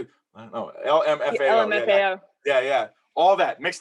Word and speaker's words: LMFAO: LMAFO. Whatever, how you say it? No, LMFAO.